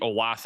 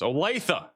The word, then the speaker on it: Olathe: line of thunderstorms approaches the Olathe area. Or Oletha, I should say. It's Oletha. I think it's Oletha.